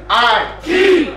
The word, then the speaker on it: Aiki: It's I Key.